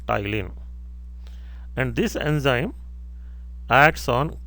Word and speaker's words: ptyalin: P is silent, ptyalin.